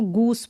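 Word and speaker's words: goose: जैसे कि यहाँ पर देखिए इसको गूज नहीं बोलेंगे, इसको गूस बोलेंगे, यानी एस जो है दो।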